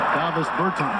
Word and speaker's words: Davis Bertans: Oh, now, at this point in my life, it's Davis Bertans. Is that how you say his name? Yeah. Davis Bertans.